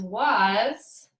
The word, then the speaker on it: was: and our Z because was our s sounds like Z and our a sounds like a u so this is why it's really tricky but when you're reading was you have to remember to pronounce the letter A as a U and the letter S as a Z okay and when you're